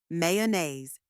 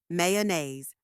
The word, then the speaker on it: mayonnaise: how to say it mayonnaise that's right mayonnaise let's break it into three parts first may this part sounds exactly like the month May next uh it's a